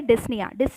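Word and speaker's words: dyspnea: है वो होता है डिज़्नी में पी आपका साइलेंट हो जाता है डिज्नी का मतलब होता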